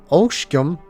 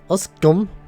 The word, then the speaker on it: Oskgum: Oskgum is oshgum and not oskum.